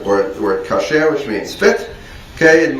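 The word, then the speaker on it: כשר: So it's usually pronounced with the accent on the first syllable. But in biblical Hebrew, the word would be kasher.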